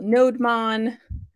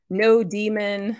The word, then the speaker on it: nodemon: we're going to install nodemon no Daemon however you want to pronounce it node mon is just going to